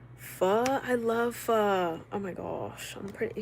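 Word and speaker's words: pho: I love fur. Oh my gosh. I'm pretty sure that's how it's pronounced properly. Fur. I used to say fo when I was younger.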